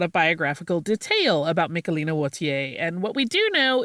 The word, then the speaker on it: Wautier: century Flemish painter Michaelina Wautier, who you will also hear pronounced more like Wautier, depending on whether the person is using a French pronunciation or a Dutch one.